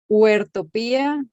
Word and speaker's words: Huertopía: Huertopía es una palabra compuesta por dos palabras. Huerto, de siembra, y utopía, que es lo que nos hace caminar hacia la transformación del planeta. Bueno, para precisar allí la pronunciación. Huertopía, y mi nombre es Jody.